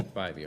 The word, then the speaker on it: Bybee: Bybee? Yeah. Or Judge Bybee. Yeah, Bybee.